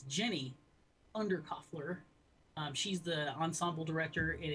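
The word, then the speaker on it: Jenny Undercofler: I got her name wrong. It's Jenny Undercuffler.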